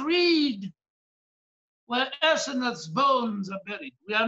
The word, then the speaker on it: Asenath: because her name is Asenath. It starts with an A for Asenath, seven alphabets, seven church ages, and it ends with a silent vowel, Senath, a symbol of the rapture.